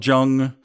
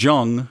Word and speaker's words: Jung: it's based on the real-life story of Carl Jung, Sigmund Freud, and Keira Knightley. Now, I know it's not actually pronounced Jung, it's actually Jung, but I like how it sounds, so I say it that way.